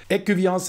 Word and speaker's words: Ecuvillens: Écuviance ist übrigens die korrekte Aussprache. Im Kanton Fribourg spricht man ein S am Ende tatsächlich aus.